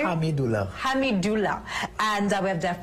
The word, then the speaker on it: Hamidulla: And Hamidoula, did I get the pronunciation correctly? Hamidoula.